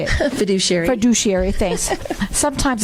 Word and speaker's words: fiduciary: a foodish food how do you say it fiduciary fiduciary thanks sometimes it's hard guys but anyway